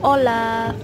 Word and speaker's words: Hola: atau sapaan itu hola-hola tulisannya Hola tapi dibacanya ha itu enggak dibaca di Spanyol jadi Olla sebenarnya kayak gitu ya cuman kayak orang-orang udah